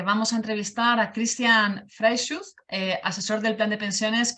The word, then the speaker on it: Freischütz: No, lo has hecho bastante bien. Freischutz. Freischutz. Es alemán.